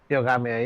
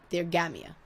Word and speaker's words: Theogamia: Theogamia, yeah. Awesome. Theogamia. The emphasis on the wrong syllable, as is my constant problem.